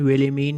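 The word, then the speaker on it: Wilhelmine: इस नाम की प्रोनाउंसिएशन विलिमीन ही होगी, तो एक का नाम तो विलिमीन है और दूसरे का नाम है पीटरकिन।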